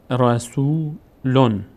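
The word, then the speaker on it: رسولٌ: به همین خاطر در خواندن هم ما اون نون ساکن رو باید تلفظ کنیم. یک نون اضافه میکنیم میشه احدون. رسولون، اصلش این بوده دیگه، رسولون. یک نون ساکن داشته که حذف شده، به جای این ضمه نون ساکن دو تا ضمه گذاشتیم روی لام، یک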